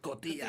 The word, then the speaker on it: Cotillard: Or Marion Cotillard? Or how do you say her name? I think it's you got it pronounced right. Cotillard.